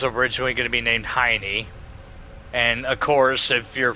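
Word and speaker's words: Hyne: spelled H Y N E but pronounced like Heiny.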